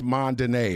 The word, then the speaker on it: Mondaine: When you break it syllabically, it's Mondaine, okay? Nothing mundane about us.